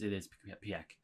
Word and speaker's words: Pieck: No, it is Pieck. Pieck, how you pronounce it.